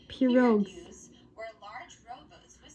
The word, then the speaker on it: pirogues: pronounced pirogues.